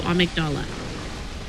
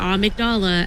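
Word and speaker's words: Amygdala: you were correct and zero is heading to amigdala and before anybody in chat says anything the reason that we we pronounce it a migdala and not amigdala is because that is how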